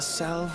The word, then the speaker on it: salve: The salve will serve not only to close up our present wounds. Never heard anyone pronounce the L in that word, but prevent old ones from opening a new.